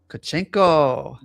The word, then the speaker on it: Tkachenko: Marissa, and special guest DJ Myla Tkachenko.